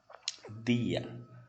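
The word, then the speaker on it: día: Em espanhol sempre terá esse som muito parecido com o som que nós temos no Nordeste. Dia. Buenos dias. Buenos dias. Língua no dente. Dias.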